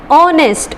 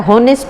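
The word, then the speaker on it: honest: ऑनेस्ट, इसमें H silent होता है, हॉनेस्ट नहीं होता.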